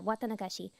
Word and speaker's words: Watanagashi: I'm gonna do my best to pronounce this word. I think it's Watanagashi? Yeah, Watanagashi.